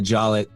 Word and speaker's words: Jollett: a part of the family that goes by Jollett. Okay. And they think there was an E at the end originally, but at Ellis Island at some point they lost an E. Then my dad goes by Jollett.